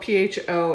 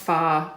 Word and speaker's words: pho: Now, pho is spelled P-H-O, it's pronounced pho, but it looks like pho.